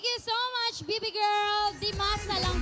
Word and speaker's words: Dimasalan: Dimasa lang pala ang pag-pronounce nun.